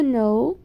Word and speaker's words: know: Geralmente, gente, palavras que têm a letra K e N juntas, a gente não pronuncia o K, tá? Ele sempre vai estar mudo. Geralmente, palavras que têm K e N juntas, o K não se pronuncia. A gente só pronuncia a outra letra, que é o N, junto com as outras letras. A gente não pronuncia o K porque ele vai ser mudo.